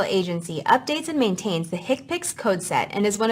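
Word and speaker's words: HCPCS: numeric or alpha numeric hips Healthcare common procedure coding system pronounced hipic this is the main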